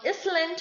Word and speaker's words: island: we mean next is island it is not island it is island the third word is also pronounced as isle but the difference between i